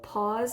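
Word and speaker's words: Paws: group um it's called pause and listen and it's spelled like p-a-w-s like pause of a wild cat because it's the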